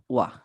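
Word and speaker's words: は: যখন হীরাগা শিখছিলেন এটাকে হা দিয়ে শিখছিলেন কিন্তু মনে রাখতে হবে যখন এটা গ্রামারে ইউজ হবে মানে গ্রামার পার্টিকেল হিসেবে ইউজ হবে তখনই হা হয়ে যায় উচ্চারণ ওয়া ঠিক আছে হার উচ্চারণ হয়ে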